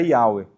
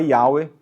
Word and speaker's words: Yahweh: provavelmente a pronúncia era Yahweh. Então, hoje, dentro do meio acadêmico, o que se acredita ser a pronúncia mais original é Yahweh, não Jeová.